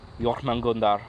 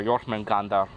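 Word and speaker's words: Jörmungandr: seokmin goon dog here that's how you pronounce by the way your nan Gunda or your friend ganda I both work and York and those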